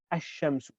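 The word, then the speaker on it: الشمس: And then we have what we call huruf shamsiya, which are letters wherein the al is not pronounced, like ash-shamsu.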